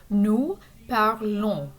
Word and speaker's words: nous parlons: And notice again that the S is silent. The ON is a nasal sound. Nous parlons.